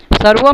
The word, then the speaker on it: सर्वं: सर्वम में जो बिंदी लगा है वो भी म का उच्चारण कराता है।